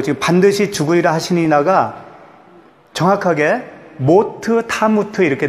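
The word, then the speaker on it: מות תמות: 반드시 죽으리라 하시느니라가 정확하게 모트 타무트 이렇게 돼 있어요 모트는 무튼데 이게 한글도 이렇게 연결해서 읽으면 발음이 달라지듯이 히브리어도 그런 그렇게 된다고요 그래서 원어를 보면 모터 타무트 이렇게 되어 있어요 그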